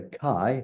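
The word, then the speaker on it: καί: So kai, the word for and, is sometimes pronounced ke and spelt ke.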